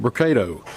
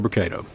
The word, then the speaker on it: Brocato: the podium today will be Hoover mayor brocato spelled b-r-o-c-a-t-o and Hoover Police Chief Nick durz is spelled d-e-r-z-i-s you may also hear from Lieutenant